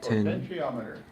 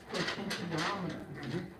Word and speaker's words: potentiometer: do you say that word how do you pronounce that potentiometer potentiometer it's just a three wire variable resistor is